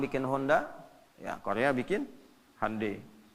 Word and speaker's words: Hyundai: Ya, Jepang bikin Honda, ya Korea bikin Hyundai. Hyundai bacanya Hyundai.